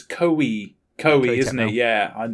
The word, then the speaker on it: Koei: How do you pronounce this again? It's Koei.